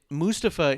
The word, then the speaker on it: Mustafa: on a number of videos on social media mustapha is how it's pronounced and the reason he said mustafa was